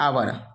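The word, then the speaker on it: hour: यहाँ पे आवर, आवर का उच्चारण और से शुरू किया तो आवर, आवर मीन्स घंटा, तो इसलिए यहाँ भी एन से शुरू किया।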